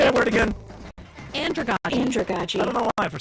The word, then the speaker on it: andragogy: Andragogy.